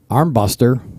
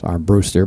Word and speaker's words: Armbruster: Actually, it's Armbruster, but I call him Armbuster because that's how I used to pronounce his name until he tried to correct me, and I said, no, I'm going to say it how I want.